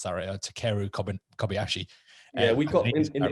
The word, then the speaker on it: Takeru Kobayashi: kind of drew my attention to was uh takera kobayashi i think i've pronounced that uh takeru kobayashi yeah we've got in the industry people just